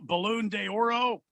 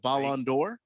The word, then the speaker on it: Ballon d'Or: He's from Brazil, so they don't Did he pronounce win the he's from Barcelona. Did he win the Balloon de Oro? The Balloon d'Oro. Did he win the Balloon d'Oro? The Ballon d'Or.